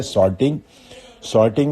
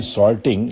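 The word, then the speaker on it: sorting: Next word है सॉर्टिंग में मैं आपको बताऊंगा कि हम बोलते हैं सॉर्टिंग लेकिन वर्ड है सार्टिंग, ठीक है। प्रोनाउंसिएशन ब्रिटिशर की अगर कहें तो सार्टिंग है, तो इसको फर्स्ट प्लेस पे लिखना है।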